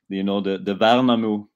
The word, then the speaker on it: Värnamo: I think the pronunciation was quite good, actually. The Värnamo part of it, it's not easy for you guys with no in the language.